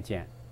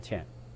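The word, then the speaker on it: 悭: 多可能是地方的方言念尖啊，正确的念法就念迁，迁贪。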